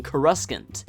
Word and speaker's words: Coruscant: be extremely ugly sounding Coruscant if you listen to the film's it becomes clear that the second C is silent chorus aunt it makes for a very elegant sounding title I missed a couple